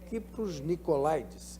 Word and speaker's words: Kypros Nicolaides: Kypros Nicolaides, é assim mesmo que se pronuncia, fez o Fellowship Medicina Fetal no King's College Hospital.